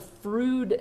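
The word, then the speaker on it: Froude: number is called the frood number and frood number its rhymes with food it talks about the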